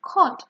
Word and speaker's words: caught: And in this case, in caught, for example, the GH is silent.